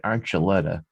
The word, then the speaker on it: Archuleta: listen the next name i know how to pronounce david archuleta uh but it's only because i've heard the